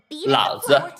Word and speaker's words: Lao Zi: By the way, a side tip: the Lao Zi player, his name is actually pronounced as Lao Zi.